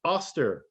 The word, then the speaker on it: Ostara: worshiped a goddess named ostara they had a feast to her the name ostara is high german but pronounced oster which is very close to easter in old english the anglo-saxons according to